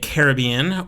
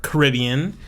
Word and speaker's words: Caribbean: been concentrated in the caribbean or caribbean uh it's always pronounced both ways i actually pronounce it both ways depending on my mood depending on the sentence